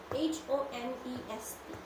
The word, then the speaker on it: honest: For example, H-O-N-E-S-T, honest. We don't say it honest. We don't pronounce the H.